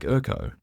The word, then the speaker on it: IRCO: For example, like Urko, the incident response copilot that I've created. If you haven't seen Urko, I recommend you go and take a look.